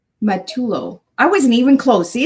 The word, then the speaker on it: Matullo: How do you pronounce your last name? Oh, it's Matullo. Matullo.